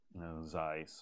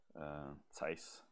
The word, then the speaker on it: Zeiss: Actually, I shouldn't be complaining because to be fair, if you look at really top-notch stuff from Zeiss or Zeiss, to pronounce it correctly, and other companies that